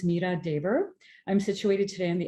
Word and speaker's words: Meera Dhebar: back up a bit so my name is pronounced Mira Deber I'm situated today in the unseated territories of